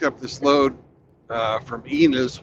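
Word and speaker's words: Ennis: this load uh from enus which rhymes with penis uh last night penis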